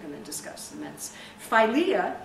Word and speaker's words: philia: to discuss the minut philia is Brotherly Love or filia some people pronounce it filia is is Brotherly Love